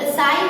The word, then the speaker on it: sigh: हाई, side, HIGH, हाई, इसमें भी आप देखो GH और यहाँ पे भी GH, तो यहाँ पे हमें HI का ही साउंड करना है, GH है वो साइलेंट है, SIGH, इसमें भी I ही साई ही बोलना है, GH है वो साइलेंट है दोनों में।